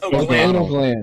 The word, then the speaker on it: O'Glannell: Like, phonetically, it's O'Glannell. O'Glannell. Like anal gland.